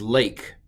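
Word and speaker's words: לֵךְ: but of course uh just to make things hard it's pronounced a don't ask questions that's a um so this is lake um and it means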